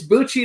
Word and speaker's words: Bucci: It's Bucci like Gucci, right?